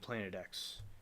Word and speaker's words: Planet X: is pronounced in letter as opposed to Roman numeral 10 I didn't know that well I we always thought it was Planet X but yeah it was